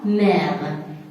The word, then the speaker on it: mer: En contact avec leur monde préféré, la mer. Ici aussi, il y a une exception. Mer, même s'il est précédé par E, ici se prononce la mer.